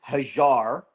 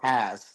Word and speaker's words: Haz: right H or has well technically my name is haar okay but uh for all you uh English folks we say has yes sir sh K9